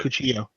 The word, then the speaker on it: cuchillo: Once I knew what the word It's meant, a double L, so you say it, you pronounce it with a Y. So it's a like, Cuchillo.